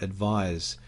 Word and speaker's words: advise: except delivery advice and advise you can actually hear the difference in the pronunciation advice is a noun and advise is a verb so when we look